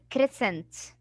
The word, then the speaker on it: crescent: Shouldn't we say crescent? No, the C has after it E, so I would say S. So all of them will be one sound, which is S.